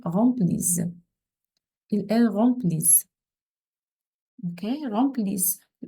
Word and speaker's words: remplissent: Okay, remplissent. No Z sound is S. Those S gives us S sound, okay?